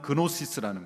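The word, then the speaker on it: γνῶσις: 이것은 헬라어 그노시스라는, 영어에서는 G 발음이 이제 생략이 돼서 헬라어는 그노시스라는 것, 안다라는 거예요.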